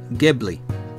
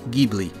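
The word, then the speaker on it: Ghibli: pronunciation on the word pronunciation for the word is from where I he is gibli personally I like saying gibi well whichever if someone were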